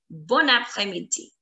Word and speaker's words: bon après-midi: So what I'm trying to say is A will make a liaison. It will align with the last word's last letter, that is N, and it is going to be bon après, bon après, bon après, bon